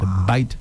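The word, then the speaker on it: Bight: And they they they they took them with say what they call the bite the bite of Benin. It's spelled B I G HT.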